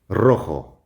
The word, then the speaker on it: rojo: That's the hard R sound, even though it's only spelled with one R because it's the beginning of the word.